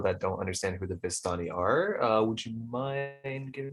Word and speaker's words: Vistani: The Vishtani, you said? Yes, and it is Vistani.